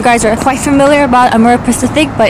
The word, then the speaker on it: Amorepacific: How do you pronounce this? Amorepacific.